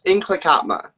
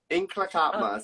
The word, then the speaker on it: Nlaka'pamux: It's definitely a tricky one to pronounce. Yeah. Say it again, girl. It sounds so good. I love it. Inklakatma. So there's like a roll in the tongue.